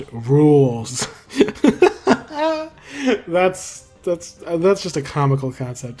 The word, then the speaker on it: Rouxls: But it does provide a baseline for the remix that becomes It's Pronounced Rouxls.